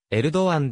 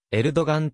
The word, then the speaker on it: エルドアン: ノエルで案はトルコ語の本来の発音に近いのはエルドアンであるがアラビア語メディアではが g 特別されないためエルドガンと表記されることもある言語のトルコ語ではエルドガンとは発音しないため英語から日本語に翻訳する際にも誤りであるイスタンブル述べ揚力河川